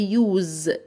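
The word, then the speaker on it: use: اسم الحرف فهقول يوو وقلنا الاس هنا هننطقها z فتبقى يوز يوز يوز يستخدم يعني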